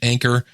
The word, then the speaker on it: Anker: Now, for the record, I mentioned Anker, which rhymes with canker, by the way.